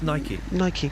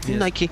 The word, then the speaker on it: Nike: Is that how you pronounce it? Oh, no, it's Nike. Nike.